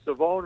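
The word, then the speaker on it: Shavon: how you say it there's no h really in it although there is an H in it you just don't pronounce it so it's savone Revel and we've had those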